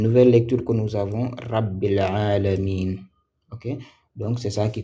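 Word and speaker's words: رب العالمين: les lire lier en on peut les lier grâce à hamz cette hamz de liaison qu'on appelle hamzle permet de lier les deux mots. Et donc la lecture de ces deux mots là, ça c'est ça rabilamin.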